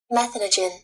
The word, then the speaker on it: methanogen: up again so meth I've been calling it this is methan methanogen that's what I pronounce it and when I Google search it says methanogen so but if I